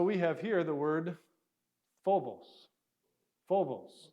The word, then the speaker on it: Phobos: better maybe a pH so this is actually an aspirated fee or an aspirated P if you're interested it's so it's a p that has an H on it and that's exactly what we do so we have here